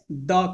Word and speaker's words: the: तो अगर किसी वॉवेल के पहले THE आता है तो उच्चारण दी हो जाता है, और किसी कॉन्सोनेंट के